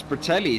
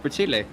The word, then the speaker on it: Pertile: But, well, it's in the system as Pertelli, so I completely get it. You've done 2 races where we've called him Pertelli, and now we have to switch to the right pronunciation of Pertile. So yeah, it is a difficult switch to make. I should just know that, though. Pertile, that's proper, but I guess I'm improper.